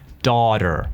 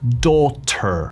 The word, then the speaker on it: daughter: Place Young hearing daughter las tes dentro de palabras en inglés americano se pronuncia como una d daughter mientras si fuese inglés británico diríamos daughter daughter la t pronunciada B